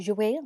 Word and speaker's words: Jouer: That's how you say it, JOUER. That's how I feel like it should be said.